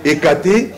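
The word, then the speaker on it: Hécate: je vais péder ekate ça s'écrit h e c a t e ekate c'est lui le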